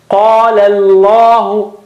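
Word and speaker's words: قال الله: Qala Allahu, qala is thin. Qala, and then lam of word Allah is thick again.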